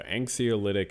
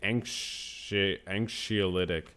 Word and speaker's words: anxiolytic: So anxiolytic action on the behavior. I don't even know if I'm pronouncing it. Anxiolytic.